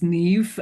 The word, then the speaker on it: Niamh: So it's my name is Neve um pronounced nev but it's n i a mh.